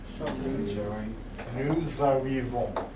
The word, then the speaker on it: nous arrivons: Nous arrivons. Okay, you have to put a Z sound in the middle. Nous arrivons. Okay, emphasize it for now.